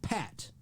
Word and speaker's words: Pat: She has a show, Pat. Pat. Rhymes with fat.